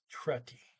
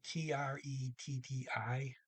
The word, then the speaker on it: tretti: But when you have a double consonant, regardless what two they are, it often causes the vowel to shorten.